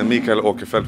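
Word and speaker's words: Mikael Åkerfeldt: i am mikael okefeld which is the swedish way to pronounce my name and i'm the lead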